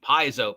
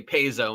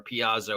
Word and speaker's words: Paizo: bunch of crap because I Mis pronounce the name piso pzo pazo now you would think that would encourage me to try and pronounce the name rightly because apparently It's upsetting people if I say pzo instead of piso or pazo or whatever the actual name is and if it